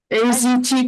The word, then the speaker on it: AZT: AZT Berlin, is that how you pronounce it? Yes, thank you.